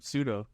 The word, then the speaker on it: pseudo: p p wa but the p is silent in the first one pseudo yes so it's four